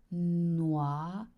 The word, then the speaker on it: noisette: An S between two vowels makes the sound Z. La noisette. And I've said that before, the sound OI makes the sound wa, like in what?